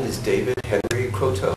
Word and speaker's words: Croteau: name is David Henry Cotto how do you spell your last name c r o t Au and we're using the French pronunciation my family is divided I prefer Cotto oh croo I see okay yeah